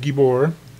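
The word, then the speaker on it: גיבור: word Gabor right here you should say that with a long e like gibor uh in this case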